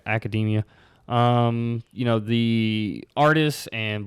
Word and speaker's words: Academia: how you pronounce that I know it's not Academy but I think it's like academia you know the artists